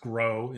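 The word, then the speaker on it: Gros Ventre: The best place to go in the Tetons for moose is always the Gros campground, which pronounced Gros, which is pronounced Gros in French because it's a French name, and Vent is Ventre.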